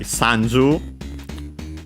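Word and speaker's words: さんじゅう: Sanju on its own is accented on the s. So on the first syllable actually.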